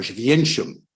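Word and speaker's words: Oświęcim: In Polish, every word has its stress on the next to last syllable. That's why it's Warszawa or Święcim.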